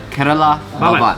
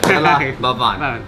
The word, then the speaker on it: Kerala Bhavan: I don't want to pronounce it wrong. The name of the restaurant is Kerala Bhavan. Yeah, perfect. I got it good? Very good. Kerala Bhavan.